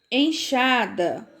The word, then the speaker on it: enxada: Elas têm o som do CH, tá certo? Então, quando eu leio caixa, peixe, xarope, enxada, estão ouvindo a pronúncia? É uma pronúncia muito, muito parecida com a pronúncia do CH.